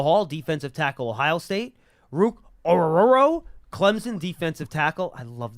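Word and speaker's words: Ruke Orhorhoro: Penn State Michael Hall defensive tackle Ohio State Rook oruro Clemson defensive tackle I love that name so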